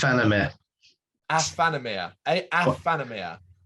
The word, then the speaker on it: Aephanemer: brenton head banging life reaction time and it's i'm feminine i'm amphetamia i'm feminine am i saying it right no it's anime asphanomia a afanomia it's this band is uh what are your